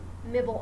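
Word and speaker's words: Mibl: self-publishing, definitely hit up Mibble Art. It's spelled M-I-B-L Art. Mibble. I just affectionately call it Mibble because it sounds cute.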